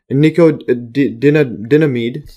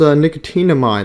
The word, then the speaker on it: nicotinamide: I think this is pronounced nicotinamide, like nicotine. So nicotinamide. NAD exists in two forms: